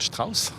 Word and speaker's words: Strauss: musique des métamorphoses de richard strauss je prononce à l'allemande donc pour orchestre à